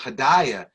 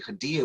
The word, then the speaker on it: Hadia: But we would pronounce it Hadaya. And I would tell her, I said, your name is really Hadia, which means gift.